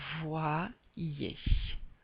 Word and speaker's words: voyez: En français, le Y a une valeur de prononciation de 2i. Par conséquent, on va dire voyons. Et là, ça va être identique. On va dire voyez.